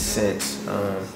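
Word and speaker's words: Senze: I came up with the name Sense, spelled with a Z, not Sins, not Sense. It's Sense, as in common sense.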